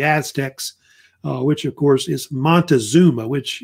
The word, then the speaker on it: Montezuma: Mexico or the Aztecs, which, of course, is Montezuma, which it's spelled different ways.